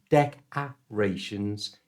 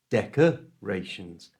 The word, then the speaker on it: decorations: this little uh sound so it's not DEC arations it's decorations decorations you try decorations next